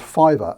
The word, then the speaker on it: Fiverr: someone put me on to a site called fiber and I always forget how it's spelt it's fi double V R I think